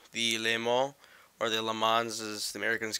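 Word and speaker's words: Le Mans: lane wall or the LeMans as the Americans call it one of the I think proper pronunciation is limo okay that's French but uh yeah so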